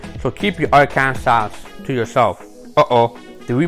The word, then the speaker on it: Arkansas: the acceptable pronunciation is in three syllables with the final s silent the a in each syllable with the italian sound and the acids on the first and last syllables so keep your arkansas to yourself uh-oh do